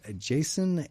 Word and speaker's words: Jacin: Band of Bards has Jason and the Olympians #1. Jason is spelled Jacin.